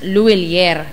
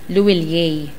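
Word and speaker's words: Lhuillier: Sa Pilipinas, Luillier. Parang yung pawn shop. Sa ibang bansa, ang bigkas dyan, Luillier.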